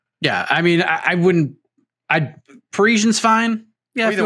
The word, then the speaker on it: Parisian: Parisian.